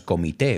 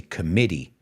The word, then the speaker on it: committee: And that's basically, cuidado con la pronunciación, no es comité, we say committee.